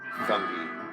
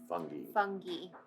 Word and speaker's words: fungi: regret it at all fungi fungi yeah that's the correct way to say that word I know I know